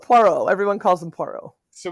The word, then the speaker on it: Poirot: hercu hercule por perot you could say it correctly poirot yeah hercule point called hercules from this point just call him puero poro everyone calls him poro